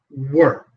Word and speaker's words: were: So one is where don't where like hair like hair where. And the other one, the verb to be were.